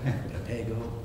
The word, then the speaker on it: Papago: I thought Papago, and then I remember that when in doubt, it's the second syllable. Papago.